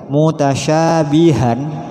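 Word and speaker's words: مُتَشَابِهًا: Mutasyabihan ada tanwin dan diwakafkan, maka menjadi biha, juga dibaca 1 alif.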